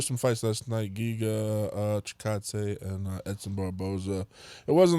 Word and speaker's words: Chikadze: Chikadze, that was the chickadees. Yeah, I didn't know how to pronounce it, and then I heard the Chikadze. dude say it. I'm like, oh, okay, that's how you do it.